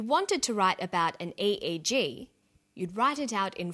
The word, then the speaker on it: EEG: researchers he says an EEG that's an abbreviation we don't pronounce it eek we say aeg aeg